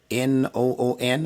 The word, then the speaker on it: nun: that suits your fancy, as long as you pronounce it correctly as noon, just like the sun that's high up in the sky around 12 o'clock. We call it noon. It's the same pronunciation.